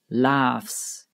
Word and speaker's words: laughs: The gh here is pronounced like an F, so it is laughs.